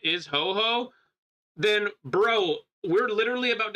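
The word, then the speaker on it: Huohuo: Literally, it's pronounced ho-ho.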